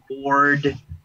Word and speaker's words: bored: En británico sería bored, ¿cierto? Bored. Exactly, bored. Bored. Y la R no suena, nuevamente la R intermedia no suena. Bored.